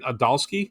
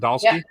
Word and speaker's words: Adalski: Steve O'Rourke for Seattle and Brian Adalski. Is that how you say it? Yep. Adalski Yep.